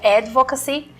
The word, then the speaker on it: advocacy: Quer dizer, em inglês a pronúncia correta seria advocacy, mas aqui nós demos uma brasileirada, né? E falamos de advocacy.